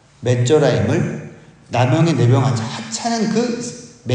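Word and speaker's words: מצורעים: 그리고 우리가 읽기에도 비슷한 발음이 있습니다. 나병 환자들은 메조라임입니다. 메조라임. 근데 애굽의 군대는 미즈라임입니다. 메조라임을, 나병의 내병 환자 하찮은 그 메조라임을 미즈라임으로 착각하게 하신 거죠.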